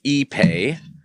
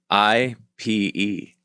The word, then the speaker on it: Ipe: I-P-E. Really? Yeah. Mm-hmm. Yeah. And so I was calling it IPE for a while until a customer of mine said, no, it's Ipe.